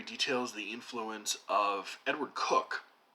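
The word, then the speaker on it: Coke: In some of the most interesting parts of this book, John Barrie details the influence of Edward Cook, whose name is pronounced C-O-K-E, like the popular soft drink, who is one of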